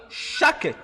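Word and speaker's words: שקד: langue hébraïque, en hébreu, amandier s'écrit S, C, H, donc S, C, H, K, E accent grave, D, E. Donc, shaket. Donc, shaket.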